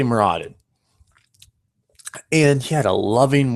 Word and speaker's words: Moradin: He followed the deity Muradin, however you want to pronounce it, Moradin. I say Muradin.